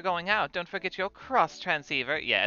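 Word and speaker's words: Xtransceiver: out don't forget your cross transceiver yeah it's pretty don't don't forget you guys it's not an x transceiver it's a cross transceiver it's very important very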